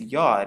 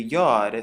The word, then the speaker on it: Yod: And it is commonly known as the Yod, so it makes the Y sound. It's pronounced just like the letter Y.